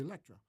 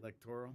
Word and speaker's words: electoral: Of the Electra, right? Is that how they say it? The electric? Electoral. Electoral.